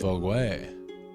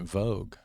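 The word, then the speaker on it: Vogüé: we head to vog another less touristy destination vog way and I've been pronouncing it Vogue there's a magazine called that I mean I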